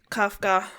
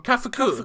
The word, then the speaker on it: Kafuku: so much different from Kafka. I want to say Kafka as in the writer, but that's not how you say it, right? It's kafuke or kafuku.